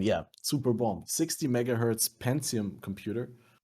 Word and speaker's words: Pentium: super bomb 60 megahertz pentium computer how do you say it in english pentium or pentium back then i didn't speak english pentagon we always call them pentium in german pentium 4